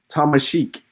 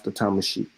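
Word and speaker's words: Tamasheq: Um, if you still here, Byron, um, Thomasic. Thomasic. I ain't doing you like the elbows, bro. But that's the Thomasic. That's how that they pronounce the Thomasic.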